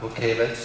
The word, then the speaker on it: Butkiewicz: here all of uh book havens i know that's the polish pronunciation right okay i got